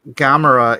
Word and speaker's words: Gamera: You don't say Gamera is a turtle. Excuse you. Excuse you. Bless you. No, is Gamera? It's not a long A sound.